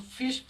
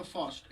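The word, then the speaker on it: first: जैसे इफ आई आर एस टी आएगा तो इसको हम लोग फिस्ट नहीं बोलेंगे, वो गलत हो जाएगा। इसको हम लोग बोलेंगे फर्स्ट, ऐसे करके।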